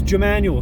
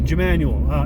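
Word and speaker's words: Jmmanuel: It's Jemanuel, spelled with a J. Jemanuel.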